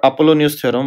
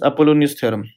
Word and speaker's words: Apollonius: there is a special case and that's called Apollonius theorem what is that so the same theorem becomes Apollonius theorem yes Apollonius theorem how do you spell it